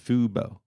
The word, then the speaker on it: Fubo: Well, and let me make sure I'm pronouncing it correctly. It's Fubo TV. Fubo.